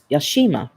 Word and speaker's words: Yashima: It's pronounced as it looks. She, as in the word she. Yashima.